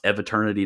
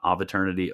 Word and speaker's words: eviternity: sorry yeah shut up it's pronounced eviternity not aeternity okay shut up shut up